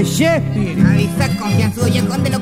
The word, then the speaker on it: Shakespeare: No se dice saquefiare, se dice Shakespeare.